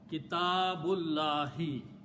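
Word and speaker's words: كِتَابُ اللَّهِ: And what we do not pronounce this alif in between, and ba will be combined with the lam. Okay, so it will become Kitabullahi.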